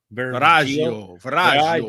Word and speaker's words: Virago: And then I like number 2, Virago. Viraggio. You have to say it like if you're in Okay, Italy. Viraggio.